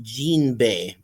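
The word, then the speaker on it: Jinbe: Hello or in the official vanted poster drawn by Oda Xinbe's name is spelled J I N B E and pronounced Jeanbe and anyone who tells you're different is wrong.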